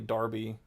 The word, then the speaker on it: Derby: he didn't understand that Derby is actually Darby, and he thought that was so dumb, and so we called it the Darby Darbs.